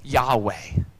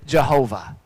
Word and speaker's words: Yahweh: might hear it pronounced yahweh trying to stick something in for the yhwh sometimes you might hear yahavah sometimes you might hear jehovah this is the special